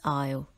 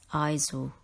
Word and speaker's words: aisle: replace with an apostrophe word number two is aisle this aisle is a passage between rows of